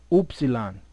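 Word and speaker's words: upsilon: p rho sigma tau what do you have here OOP salon which is the wah oopsie lon that's that was the pronunciation as much and as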